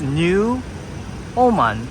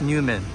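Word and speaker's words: NEWoMan: here is Newman yeah it says new Oman or it could be pronounced new woman I'm kidding it's actually pronounced Newman I don't know why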